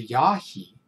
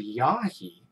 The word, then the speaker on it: Yahi: ishii who was the last member of the yahi tribe that's spelled y a h i who just simply